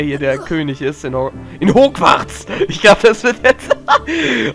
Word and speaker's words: Hogwarts: Gegenwärtiger Schulleiter von Hogwarts.